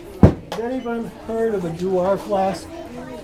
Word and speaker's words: Dewar: Has anyone heard of a Dewar flask? D-E-W-A-R, spelled like a Scotch.